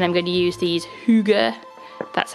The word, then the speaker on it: hygge: to February and I'm going to use these Huga that's how you say it um sticker sheet